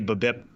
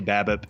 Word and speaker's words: BABIP: I say babip. Some people say babbip, whatever you want to call.